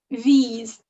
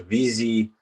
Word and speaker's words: víz: Víz. Víz. Víz or vez? E. It's long. Oh, okay. Víz. Vízi. I'll just put an I at the end as well, like the previous word. So vízi.